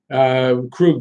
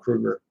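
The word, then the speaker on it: Krejčí: you gotta you know crewed by the way he's not Kruger crew I thought it was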